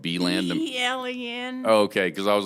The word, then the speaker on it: Belen: How do you say it? I would say you would say Beland. Belen. Belen, New Mexico.